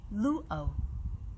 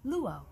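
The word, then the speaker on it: lūʻau: and this word is luo lu o that is the olelo hawaii the hawaiian language pronunciation of that word which is most often heard as luau a hawaiian luau i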